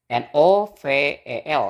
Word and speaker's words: novel: o v i l n o v e l ya Oke Eh jadi itu bacanya bukan the Vel Tapi bacanya novel gitu Nah di sini ee